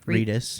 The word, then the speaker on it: Reedus: he wants to work with norman reidman again Reedus Reedus yeah he wants to work with Norman